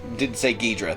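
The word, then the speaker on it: Ghidorah: He's getting beat up by Ghidra, and he's getting, yes, I did say Ghidra, that's how I pronounce it, and getting beat up by the Godzilla Tower, the lasers from it.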